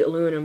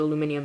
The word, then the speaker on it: aluminium: And as you can see here, even aluminum, and it's supposed to be aluminum, but it's aluminium. So I pronounce it aluminium, but it's aluminum.